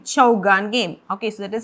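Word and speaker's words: chaugan: is chow gang game okay so can you pronounce this chau gan c h e u g h a n chow gun game okay so that is an indian polo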